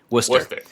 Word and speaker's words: Worcester: How do you pronounce that? Worcester.